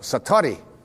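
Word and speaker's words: satori: it's called excuse my Japanese but it's called satari I'd love to say that satari s-a-t-o-r-i and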